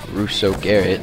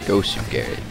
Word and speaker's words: Gosu Garrett: When I did my shoutouts, and I gave a shoutout to one Russo Garrett, I pronounced his name wrong. It's actually pronounced Gosu Garrett.